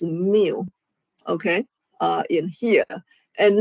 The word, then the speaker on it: mu: This one is kind of uh pronounced mu.